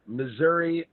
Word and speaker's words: Missouri: Well, at least try to sell his fucking poetry book, This is Missouri, I hope I never see you again.